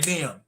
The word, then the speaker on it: Liam: Lim Smith. Lim Smith. Yeah, you say Colin. Lim Smith. I'm sorry, Liam. I think that's how you say it.